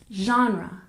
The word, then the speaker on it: genre: We stress the first syllable, genre, genre.